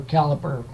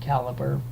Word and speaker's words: Calibre: were a library or caliper I keep saying to Libra that's what I use I was Colin didn't out and but then I saw a video by that God that created it and he pronounced it caliber and so that's that one safety disc you can